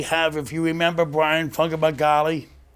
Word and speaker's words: Fumagalli: Not only do we have, if you remember Bryan Fumagalli, how do you pronounce it? Fumagalli. Fumagalli.